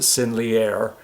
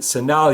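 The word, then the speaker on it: Sennelier: it's called sin uh I pronounce it siner uh but it's um uh s n in senal is I think the way it's properly pronounced I don't speak French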